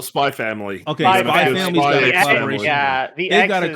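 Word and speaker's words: Spy × Family: Spy cross family. You just call it Spy Family.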